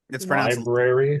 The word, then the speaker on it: library: Library. It's pronounced library, Kyle. Nah. Yeah, it is. There's that first R for a reason.